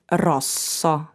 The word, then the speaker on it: rosso: for example sputara and in the group ss for example rosso on the other hand